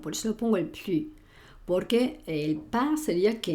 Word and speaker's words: plus: n'existe plus, acuérdate que el plus lo digo plus y pronuncio esta S cuando quiero hablar de más.